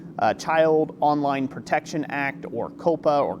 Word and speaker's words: COPA: Anyways, it was like a $170 million fine for violating the Child Online Protection Act, or COPA, or Coppa, as some people are pronouncing it.